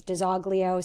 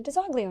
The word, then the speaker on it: DiZoglio: in Mthoan and uh my family says Daglio. So I'm Diana Daglio.